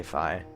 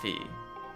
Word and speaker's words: Fi: Yeah, some people say Fee, some people say Fi. Now, technically, in the Japanese version, it's clearly pronounced Fi, not Fee.